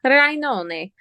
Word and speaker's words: Rainone: It's spelled Rain1. It's Italian, Rainone.